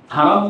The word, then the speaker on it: হারাম: এই জন্য দেখবেন মক্কা মদিনার নাম নিতে গেলে বলে হেরেম শরীফ। কোরআনে কিন্তু হেরেম শরীফ নাই, বাইতুল্লাহিল হারাম আছে হারাম শব্দটা, কিন্তু তারা হারাম উচ্চারণ করতে চাই না, মানে তাদের জবান দিয়ে হারাম উচ্চারণটা হয়ই না, হেরেম বলে।